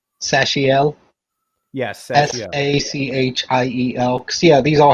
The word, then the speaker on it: Sachiel: Let's see, it was how do you pronounce his name? Sachiel? Yes, Sachiel.